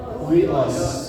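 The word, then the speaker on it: υἱός: Anak-anak di sini adalah huios. Tulisannya huios. Huios bacanya ya. Huios. Ini bacanya. Hui langsung awe.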